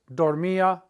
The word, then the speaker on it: dormía: I used to sleep a lot, antes dormía mucho. Accent on the I. Antes dormía mucho.